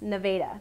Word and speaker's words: Nevada: Stay on I 49 all the way to Nevada and it is pronounced Nevada, Missouri.